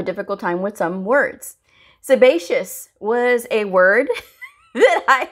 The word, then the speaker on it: sebaceous: Don't ask me why I insisted on calling it sebiscus, but I did. But I know the proper term for it, or the proper pronunciation, is sebaceous.